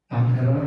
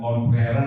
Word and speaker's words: conqueror: Conquerer bacanya ya bukannya confer tapi conquerer.